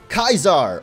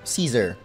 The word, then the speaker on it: Caesar: now you will be Kaiser or Caesar which is the real way to pronounce it but I don't know